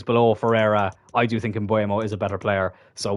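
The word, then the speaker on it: Mbeumo: But anyways, we will bring in Buemo, who apparently, I am pronouncing this incorrectly. It's like Mbuemo or something.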